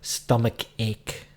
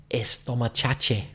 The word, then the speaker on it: stomachache: So they said estomachache. Brilliant. Estomachache. Stomachache. Because ache is A-C-H-E.